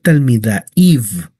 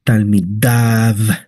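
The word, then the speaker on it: תלמידיו: No es talmidaiv, talmidaiv es talmidav, talmidav. La yud es casi impronunciable, se pronuncia, pero es muy breve su sonido. Es talmidav, dav, talmidav.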